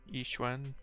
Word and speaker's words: Yixuan: kind of pronounced E, like I, and then Shen, Yixuan, or like the W.